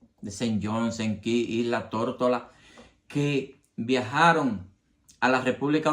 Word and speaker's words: Tortola: de la isla Tórtola, que en inglés ellos pronuncian Tortola, pues cuando le preguntaban que de dónde tú eres, Tórtola. Al oído de los dominicanos, la palabra Tortola, como la pronuncian ellos, Tortola, le sonaba cocola.